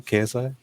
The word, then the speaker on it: KSI: whatever is that how you say his name KSI yeah he started popping off off a dance